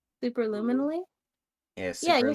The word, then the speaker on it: superluminally: Superluminally?